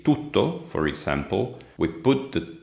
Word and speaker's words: tutto: For example, if you take the English t sound, like in take, that is an alveolar sound. You pronounce it in a specific place of articulation, that is above the upper teeth. This is not the same in Italian.